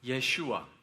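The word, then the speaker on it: ישוע: Yeshua. 그의 이름은 히브리어로 예슈아라고 발음되는데요.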